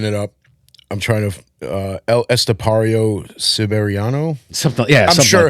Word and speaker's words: El Estepario Siberiano: You did, but I think that's pretty much how you pronounce it. El Estepario Siberiano.